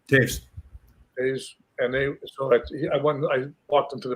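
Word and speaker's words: Toews: And so my kid was a big fan of like Kane and Tao is how you pronounce his name. Taves.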